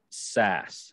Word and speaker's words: Sass: this is uh sass am i saying that the the surname correctly am i pronouncing it correctly well you know if you're from uh chicago or kansas it certainly is sass but if you're from